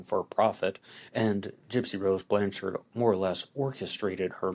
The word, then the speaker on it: Blanchard: is the case of gypsy rose blanchard sometimes pronounced blanche shower and gypsy rose blanchard